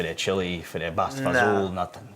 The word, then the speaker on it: fagioli: If you look at the word itself, it looks like it said basta fagioli, Fagioli. But you say basta fazool, Fazool.